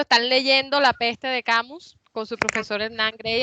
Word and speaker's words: Camus: y la peste albert camus o camí si uno quiere afrancesar la anunciación mala francesa